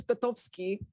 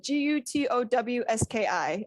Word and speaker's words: Gutowski: what is it well my mother's maiden name is kotovsky so it's uh g-u-t-o-w-s-k-i um lots of people pronounce it gutowski and like cringe i cringe just like